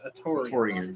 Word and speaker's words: Atoran: n I believe that's atoran yeah that's not hard to pronounce I wonder why he goes